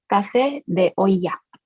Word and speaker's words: café de olla: How do you pronounce it? Café de olla.